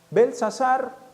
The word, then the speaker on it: Belsasar: Belsasar, he puesto una T entre paréntesis porque cuando es Daniel se pronuncia, cuando es Belsasar no se pronuncia.